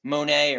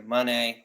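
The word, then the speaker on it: Moné: nice little Segway Mercedes Monae or Monet whatever you want to call it however you want to pronounce it like came out and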